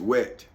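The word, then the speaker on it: whet: wet so that's w-e-w-h-e-t so it's wet but the age I guess is silent yeah you know so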